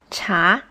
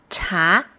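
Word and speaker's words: 茶: say then i said cha it's chinese word for tea cha is in the second tone so means he wants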